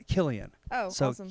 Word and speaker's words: Kylian: So it's spelled like Kylian, but it's Killian. Oh, So awesome. Kylian.